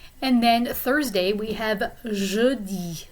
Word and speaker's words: jeudi: And then Thursday we have jeudi. So that sound in the middle is a vowel sound we don't have completely in English.